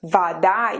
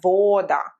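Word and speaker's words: вода: words and vada water vada you see how or is reduced it's not voda it's vada almost something like in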